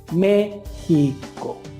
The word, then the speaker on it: México: a dividir esa palabra se divide en tres sílabas la primera sílaba acentuada entonces vamos a decir al niño que repita la palabra mexico siempre dándole énfasis al acento méxico gméxico y le vamos